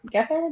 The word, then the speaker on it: Gethard: of right now because chris uh chris gethard get there this is how you say it i know